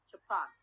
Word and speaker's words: Japan: word japan okay japan the primary series is where on the last syllable japan okay when i add